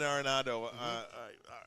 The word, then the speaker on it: Arenado: okay, you've got Nolan Arenado. I can't even say his name. Or Arenado. You got it right.